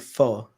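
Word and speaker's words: pho: vacation we'll get some f um so yeah it sounds like foe or it's spelled like foe but it's not foe it's F you know so this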